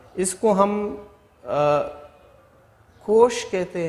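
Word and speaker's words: cosh: यहाँ पे इसको प्रोनाउंस करते हैं कोश या कॉस hyperbolic कोसाइन hyperbolic x, तो 1/2 e power x plus e power 1p x।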